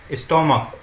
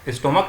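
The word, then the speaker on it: stomach: And what is the short upper part of the human intestine next to द स्टोमक? स्टोमक नहीं, स्टमक।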